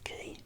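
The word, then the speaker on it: Quay: the fairies leave from a circular ke ke is spelled q ua y so have you come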